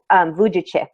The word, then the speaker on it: Vujicic: I think it's Vujicic is the correct pronunciation.